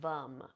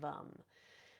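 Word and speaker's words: vam: and orange color and the seed sound is vum v m pronounced vum um moving up into the um the solar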